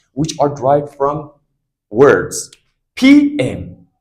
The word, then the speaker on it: PM: Did anybody pronounce the word pump? No, it is PM, Prime Minister.